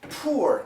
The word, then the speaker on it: poor: sounded but once again the typical American pronunciation will be this o o it's like a dip thong po po fool fool poor kid poor kid poor